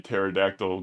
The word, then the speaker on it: pterodactyl: Why can't you hear a pterodactyl go to the bathroom? The P is silent.